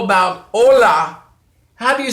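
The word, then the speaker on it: hola: is silent how about Ola have you spell Ola H Oh L a so the H is totally silent and you can remember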